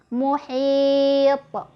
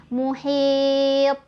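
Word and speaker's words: محيط: Muhit, muhit, gitu ya. Bacaan yang salah misal muhit, ditahan lidahnya, harusnya dipantulkan muhit.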